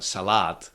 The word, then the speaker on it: salát: and it kind of I think that for speakers of some languages it would be actually quite intuitive uh to move the stress and say salat. Yeah. But that's not that's not how it works in check. You you cannot you cannot say salat or salat. I I cannot even pronounce that. Uh you have to keep the stress on the first syllable.